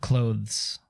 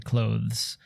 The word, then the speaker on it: clothes: love what the word clothes oh there's a th in there and I love the th in clothes because most people just